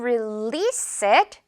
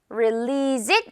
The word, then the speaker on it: release: 역시 릴리즈라고 어 정말 많이 쓰는 말인데 release s로 발음된다는 거 기억을 해야겠죠? 예문 볼게요. 우리는 그거 가을에 출시할 거야. 출시하다라는 표현. We're going to release it. Release it 아니고 release it.